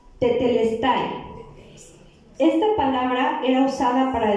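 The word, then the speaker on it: τετέλεσται: Así es que busqué la palabra consumado, y en griego la palabra consumado se pronuncia tetelestai.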